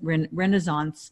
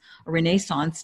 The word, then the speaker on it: Renaissance: already in the Brenna's Renaissance Renaissance depending on where you are pronouncing it that are is once